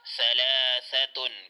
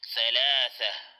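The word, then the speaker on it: ثلاثة: Dito, thalathatun. Kung hindi natin bibigkasin, thalatha. Kung hindi natin bibigkasin ang patinig sa dulo, thalatha.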